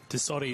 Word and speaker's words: Tassotti: Tassotti, it's not that hard, David.